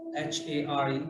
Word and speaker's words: Hare: H-A-R-E, pronounced as Hare, Krishna, and Rama.